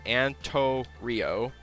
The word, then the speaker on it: Antorio: AMC and Torio graza that's pronounced Ann tour Rio or yeah Anto Rio and then graza graza